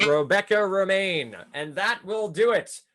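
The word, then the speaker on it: Romijn: actress has explained that it's quote like the lettuce on the pronunciation of her last name what actress has explained that it's Reina that is correct Rebecca remain and that will do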